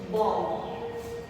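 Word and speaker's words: bomb: सबसे पहले हम बी लेंगे जो हमारा साइलेंट आता है। तो सबसे पहले मैं लिखूंगी बॉम्ब, B-O-M-B, बॉम्ब।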